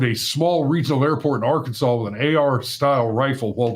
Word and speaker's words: Arkansas: it over out of Arkansas. I think it's funny that we pronounce that last S like a W.